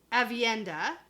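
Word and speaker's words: Aviendha: And she has Elaine, Nynaeve, and Avienda.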